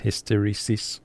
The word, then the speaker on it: hysteresis: where it says his that's hysteresis I think is how it's uh pronounced drop it right down